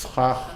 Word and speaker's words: schach: It's schach. How can you pronounce that with two chas?